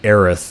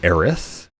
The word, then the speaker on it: Aerith: So it sounds like, a Japanese pronunciation of the word Earth, which just sounds very